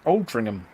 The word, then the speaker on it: Altrincham: and Foxley sending Steve actually it's pronounced Altrincham Oh bring them more